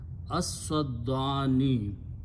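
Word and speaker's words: السدين: So when you pronounce, you don't pronounce lam, but because seen is a shamsi letter, so you pronounce seen twice. As-saddani.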